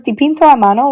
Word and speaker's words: dipinto a mano: And it says dipinto a mano, which means in Italian, painted by hand.